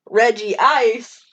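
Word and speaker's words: Regice: fragile move on uh absolutely not it is reggie ice and i'm going to punch you it could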